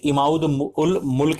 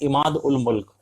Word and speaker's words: इमाद उल मुल्क: मुल्क, ये माफ कीजिए, इसका वजीर इमाउद उल मुल्क ही देखता था। फिर से वापस मैंने प्रोनाउंसिएशन गलत की, इसका नाम है इमाद उल मुल्क।